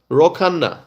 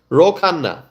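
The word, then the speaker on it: Khanna: Congressman Roana. Roanda. Actually, that's how it's pronounced. Roanda.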